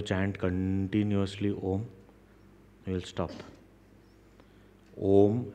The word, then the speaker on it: Om: continuously om you'll stop om actually doesn't have three syllables it has four parts Uh u m and there is some silence also it starts with silence ends into silence so when we chant